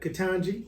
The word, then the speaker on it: Ketanji: Man, I hope I pronounce her name right. You got it. Ketanji?